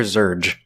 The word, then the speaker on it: Zurg: Is it Zerg or Zurgge? Zurg. Zerg. Okay.